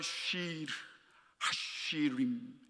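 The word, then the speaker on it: שיר השירים: 히브리어로 발음하면 쉬르 하시림 히브리어는 약간 가래 끓는 소리가 나야 해요.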